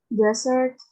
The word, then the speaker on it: desert: Desert, dessert. Excellent. Very good. So in here, the first one, she said desert, right? But in the second one, you said dessert.